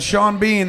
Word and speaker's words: Seanbhean: And Sean Bean, the word is one word, and it's spelled Seanbhean.